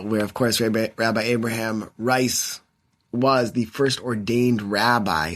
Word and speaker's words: Rice: Zev Eleff, who's the president of Gratz College, and we will be discussing, this time, Rabbi Abraham Rice, or Reese, but it's spelled Rice, R-I-C-E, but we will talk about a pronunciation.